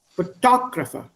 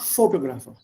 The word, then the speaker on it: photographer: But the correct pronunciation, I'm a photographer. Photographer, not photographer. It's a simple word, but the English pronunciation is different.